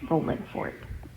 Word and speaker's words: Rolling Fork: Now, of course, it's spelled with the G at the end, but I do not say it that way because that's not how they say it. So, I'm not going to say it with the ing because that's not how they do it.